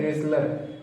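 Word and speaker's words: wrestler: पहलवान, यानी रेसलर इसको पढ़ते हैं सीधे, इसमें हम W का उच्चारण नहीं करते हैं और इसके साथ साथ इसमें जो T है इस T का उच्चारण भी इसमें नहीं करते हैं, सीधा पढ़ते हैं रेसलर।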